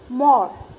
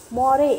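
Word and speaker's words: more: बोलेंगे, क्या बोलेंगे, वॉक, मोर, तो उसमें साइलेंट लेटर कौन सा है, E, मोरे, ऐसे बोलते हैं नहीं, मोर।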